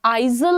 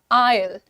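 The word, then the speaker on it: aisle: तो ये जो बीच का एरिया होता है इसका प्रोनंसिएशन आइजल नहीं है। The pronunciation is आयल आयल आयल। आई Al right.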